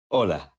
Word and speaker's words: hola: did you notice that although hola starts with the letter h it is not pronounced the letter h is